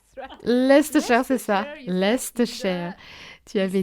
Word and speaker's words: Leicestershire: Et bien sûr, je me souviens, j'arrive pas à le prononcer. Leicestershire. Leicestershire, c'est ça.